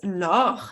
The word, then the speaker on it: Laure: coaching session for success my name is lo it's uh although it's written l-a-u-r-e it's um pronounced l-o-r it's French originally that's the the reason hence